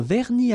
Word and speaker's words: vernis: Final S here, not pronounced.